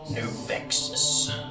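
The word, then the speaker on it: Gnovexus: It is spelled with a G at the beginning. What the hell? GNO. G-N-O-V-E-X-U-S. Novexus.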